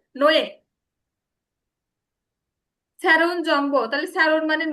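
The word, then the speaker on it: 뇌: এখানে কিন্তু নো ই উচ্চারণ হবে না, এখানে কি উচ্চারণ হবে? নয়ে।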